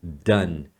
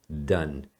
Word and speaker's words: done: a forma do particípio do verbo fazer você pronuncia done done já tô alertando porque pessoal costuma falar errado